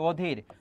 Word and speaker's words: অধীর: যেমন এখানে দেখো অ এর উচ্চারণটা ও হয়ে যাচ্ছে অতুল, অ এর উচ্চারণটা ও হয়ে যাচ্ছে অধীর, তারপর অ এর উচ্চারণ